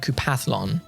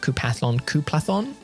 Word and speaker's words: Koopathlon: Now, I want to say sorry to everyone that I mispronounced Kooplathon. I don't know. I just thought it was Kooplathon. I thought that's how it's spelled. I read it incorrectly.